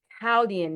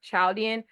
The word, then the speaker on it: Chaldean: Specifically, we are using Chaldian numerology. Even though it looks like it should be pronounced Chaudian, howian numerology, the Caldian society was